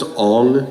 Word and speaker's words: Aang: It's pronounced Aang, guys.